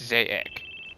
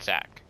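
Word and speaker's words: Zack: say my name right it's zaic not Zach come on impressive and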